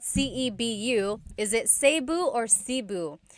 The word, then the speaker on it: Cebu: So, technically in the Tagalog alphabet, the letter E can be pronounced E or E like the letter I. So, I say Cu. Cebu. And I know some people say su, but usually it's either Cu or Sebu.